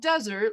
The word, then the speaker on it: Desert: Island right in here locals it's spelled desert locals like to call it Mount desert like pie like the dessert that you would eat after dinner or maybe even for